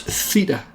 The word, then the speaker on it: theta: The wiggly zero is another Greek letter of the alphabet pronounced theta.